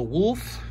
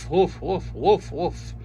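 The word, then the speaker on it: Wulf: character called wolf and it is spelled w-u-l-f so wolf wolf new character appearance man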